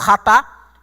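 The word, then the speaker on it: חטא: Nós temos ratá ou hamartia. Toda vez que você vira uma expressão em hebraico que começa com CH, você pronuncia ra, ok?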